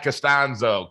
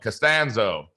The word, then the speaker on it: Costanzo: I'm your host, Jim Oliver, and with me today is Costanzo. Costanzo. Did I say it right? The first time or the second time? Both of them work perfectly. Yeah.